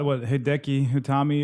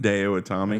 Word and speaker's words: Hideo Itami: Well, they brought Hideki Utami over there. Yeah. Trying to spice it up the division a little bit. Hideo Itami.